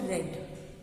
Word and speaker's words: read: का past tense रेड, लेकिन spelling यही रहेगी, रीड का पास्ट टेंस रेड हो जाएगा READ, पर spelling will not change, only pronunciation will change.